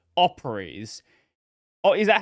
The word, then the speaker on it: Operese: months ago, the developer of a project called Operies.